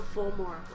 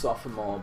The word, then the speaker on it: sophomore: supposed to be pronounced sophomore but in it said so quickly it sounds like soft it is actually three syllables up I got into